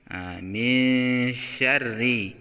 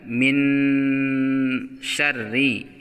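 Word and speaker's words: من شر: Jadi membacanya adalah misyarri. Misyarri, bukan min syarri. Itu keliru, ya.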